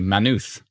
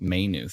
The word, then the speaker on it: Maynooth: factors kim says exactly manuth you are saying it right it's not pronounced may knuth says leslie so a